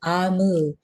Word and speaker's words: Omu: note to the reader we pronounce o mu we pronounced so i i'm gonna correct my pronunciation amu it's the igbo term for queen ah move can you